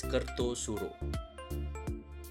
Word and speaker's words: Kartasura: But do you know that even though it is spelled as Kartasura, it is actually pronounced as Kertosuro?